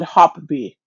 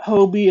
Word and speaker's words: Hobie: So I asked Hobie on Facebook how to pronounce their company, and they said Hopbee. Hoppy? Hopbee? Well, that's new. Hmm. So it's not Hobie, it's not Hobby, it's Hopbee?